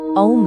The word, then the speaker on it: ॐ: असल में इसका सही और मूल उच्चारण ओम नहीं बल्कि ए यू एम यानी ओम है।